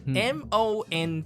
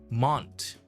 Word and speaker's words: Mont: things about the pronunciation m o n t Mont okay I'm I'm pronouncing it Mont technically in French there's no T so it's Mon Mon oh yeah so m